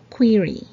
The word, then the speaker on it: query: it's salmon number 19 it's query query i know it looks like query but it's actually pronounced as query number 20 a lot